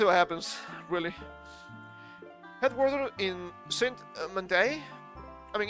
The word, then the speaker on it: Saint-Mandé: Headquartered in Saint-Mandé. I mean, it's French, so everything has to have the emphasis, the strong syllable on the last syllable of the word.